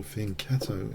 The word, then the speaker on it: fianchetto: Okay, I'm going to take her and fianchetto, I think. Or fianchetto, if you prefer that pronunciation. I like the cello sound.